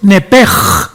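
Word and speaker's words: נֶפֶשׁ: La palabra que se traduce como alma es la palabra hebrea nepesh, con E de Nancy, y la palabra SH en el griego se pronuncia como J. Entonces, la palabra alma en el hebreo es nepej, con la J, con la G aquí en la garganta.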